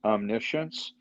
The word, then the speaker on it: omniscience: knowing as well uh omniscience omnis science is how it looks and how it's pronounced is omniscience God knows everything and